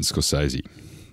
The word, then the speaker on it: Scorsese: by martin scorsese and thanks for picking me up on my pronunciation of the director's name earlier that's all right what were you calling you i think it was scarcity schools that's the australian first that's the aussie the aussie version this guy's a that's